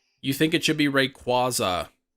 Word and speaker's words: Rayquaza: Rayquaza. You think it should be Rayquaza. I think it's supposed to be like a quasar.